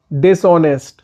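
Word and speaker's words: dishonest: सूखा ड्राई ड्राई धोखेबाज डिसोनेंस होनेस डिस होनेस में एच साइलेंट होता है कठिन डिफिकल्ट डिफिकल्ट कठिनाई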